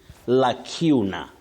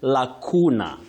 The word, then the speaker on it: lacuna: But remember, you can also say Lacuna with that long sound oo. Lacuna, yes, especially in American English. But now I am talking about two acceptable or alternative pronunciations, Lacuna and Lacuna.